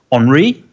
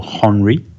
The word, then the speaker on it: Henri: Henri, or Henri, depending on how you want to pronounce it.